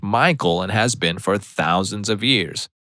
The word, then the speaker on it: Michael: and again this girl was adamant it was pronounced Michelle mom Bemus said something along the lines of it's literally a name from the Bible it's pronounced Michael and has been for thousands of years the